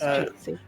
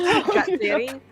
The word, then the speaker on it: Jatsiri: I thought it was Jitsi. Now I don't know Jitsi. how the name is pronounced. He's not. He's trying to. Now you're getting Denner's confused. I don't know if I'm mispronouncing this. Because it is Jatsiri.